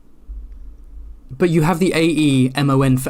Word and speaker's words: Aemon: And I think that's because George told them and it was like, you're pronouncing it wrong. It's like... But you have the A-E-M-O-N for Aemon, but that's Aemon.